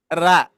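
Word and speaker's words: ر: Nah, kalau huruf ro tarkik atau tipis bunyinya gini. Ra, ra, ra, ra. Ya, bisa dilihat ayah bunda? Ra, ra.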